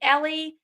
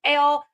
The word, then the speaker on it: Elle: And I was like, oh, you can actually say my name right because everybody else calls me Ellie and it's not Ellie, it's Elle.